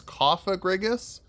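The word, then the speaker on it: Cofagrigus: I've heard it mispronounced. I am 99% sure it is Cophagrigus. The other way makes it sound like there's a slur in the middle of the name, and I don't think that's correct.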